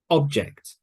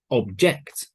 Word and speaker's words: object: record record present present object object so the syllable stress the stress in the word changes position depending if it's a noun or verb record present present object